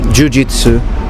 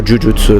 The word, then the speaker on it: jujutsu: So even when people tell you practice kendo, practice kenjutsu, practice jujitsu, or jujutsu, like it's actually pronounced in Japan most of the times.